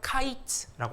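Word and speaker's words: קיץ: 여름과일은 히브리어로 카이츠라고 합니다.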